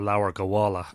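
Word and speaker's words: Lebor Gabála: to a book called leper Kabbalah or Lauer gowalla as it be pronounced in modern Irish and that is the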